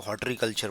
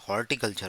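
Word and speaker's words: horticulture: टी I horti होगा बहुत से लोग इसको हॉट कल्चर पढ़ते हैं हर्ट्री हर्ट्री नहीं होता हॉर्टिकल्चर होता है एच ओ आरटीआई सी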